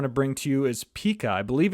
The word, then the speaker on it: Pika: that I want to bring to you is Pika I believe it's pronounced Pika you know correct me if I'm wrong in the comments Pica or Pika uh introducing Pika 1.0 which is